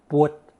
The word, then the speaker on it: 佛: A truer approximation of the Sanskrit can be found in the older southern Chinese dialect of Fujian and Taiwan, which is pwut. The original B sound in Old Chinese has become an F in modern Mandarin.